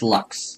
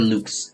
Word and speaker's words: lux: It's lux or loose, however you want to pronounce it.